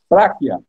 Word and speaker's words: Pracchia: Eu pronunciei certo? Práquia, Práquia.